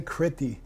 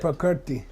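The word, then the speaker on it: kīrti: opposite but property party please don't say kriti okay and all the all of them say Chrissy they have they don't know what the hell they're doing okay Kirti property not property because that's a long a and that would mean he's not the maker okay they're very much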